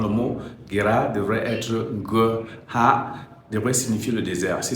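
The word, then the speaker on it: Gerar: Effectivement, le mot Guérard doit se prononcer Ngha. Le G c'est G et le Ra c'est Ha.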